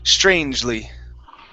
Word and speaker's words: strangely: the word strangely so the e after the g we won't pronounce that so it's strangely strangely okay one more